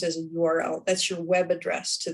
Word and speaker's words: URL: is spelled url uh some people do say it earl um but it's i think it is more properly always pronounced as a url that's your web address